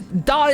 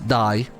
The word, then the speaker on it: Dai: is that this is die this is die as in he died die no no no like die as in you know the Welsh name like die I I don't know